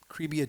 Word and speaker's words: Cribia: Their Cribia show, Cribia Trivia Show. Cribia is supposed to rhyme with trivia, and Cribia means they have trivia since you were in the crib.